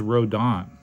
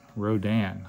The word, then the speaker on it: Rodan: what it looks like like uh this is rodon Rodan I guess you would pronounce it and it's basically a dragon pterodactyl